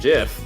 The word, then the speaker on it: GIF: And that's a hard G. And it's not like a graphical interface, whatever. It's it's it's a G like an actual G anyway.